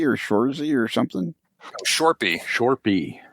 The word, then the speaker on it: Shorpy: Shorby or Shorzy or something? Shorpy. How do you spell that?